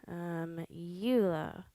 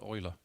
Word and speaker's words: Euler: Quaternion dot Euler. Euler. Sorry, it's pronounced Euler.